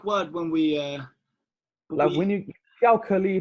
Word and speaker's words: 巧克力: What was specific word when we when you 巧克力, it sounds like chocolate.